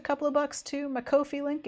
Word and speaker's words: Ko-fi: Sarah with T on Ko-fi because I refuse to say it coffee because it's not how it's spelled.